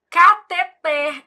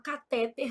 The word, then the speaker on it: cateter: Eu falo: "Júlia, você não é daquelas médicas que fala catéter, não, né? Porque sua mãe é professora de português, foi com esse dinheirinho que ela pagou os seus estudos. Então você vai falar catet, ela fica rindo."